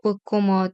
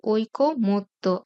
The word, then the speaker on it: ঐকমত্য: ঐকমত্য আমরা প্রায়ই ভুল করে উচ্চারণ করি ঐক্যমত বা ঐক্যমত্য। আসলে কিন্তু ক এর উচ্চারণ এখানে একটা হবে ঐকমত্য।